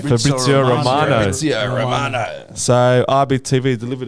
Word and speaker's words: Fabrizio Romano: Fabrizio Romano.